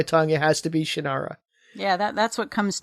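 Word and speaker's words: Shannara: is it shanara okay it's supposed to be pronounced shanara shanara apparently and I I acknowledge that that is the official correct pronunciation of it and you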